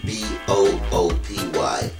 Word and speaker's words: Buppy: want to pronounce it the right way it's pronounced b-o-o-p-y booty so let's see you say boopy yeah